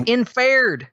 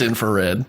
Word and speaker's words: infrared: how you pronounce it it's infared infared no it's it's not I'm sorry it's infrared it's an air that's